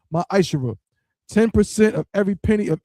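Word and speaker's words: מעשר: tithes which is a commandment you can find this in numbers 18 to 21 and Malachi chapter 3 verse 8-10 means 10th in Hebrew pronounced myisher 10% of every penny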